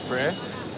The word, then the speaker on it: Prix: Pricks is pronounced pre.